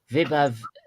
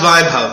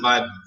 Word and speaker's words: Vaibhav: I'll just go for this old Vibhav Samaga. If I've said that wrong, I really apologize. It'll be Samaga. Samaga. And I think it's pronounced Vaibhav. It's an Indian name. They pronounce it Vaibhav.